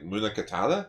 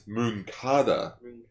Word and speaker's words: Munakata: Also, I've been complaining recently, being like, how do you pronounce the commander's name? Like, Munakata? Mm-hmm. And it's like, no, apparently it's Munkata. Because like he finally said it, and I'm like, Oh!